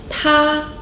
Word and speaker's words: 她: 他 means he. 他. Another character with the same pronunciation. 她 means she.